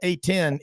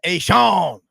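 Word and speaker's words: Etienne: tanner smith he says it isn't travis a ten it's travis ay shawn so cajun man frustration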